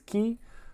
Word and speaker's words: Caye: Uh you can say K or Key. The actual pronunciation is Key.